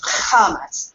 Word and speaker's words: chametz: But then it also says foreign, una parola strana, a strange foreign word, and it is spelled with, interestingly enough, with a CH, chametz, just like we say it in Hebrew.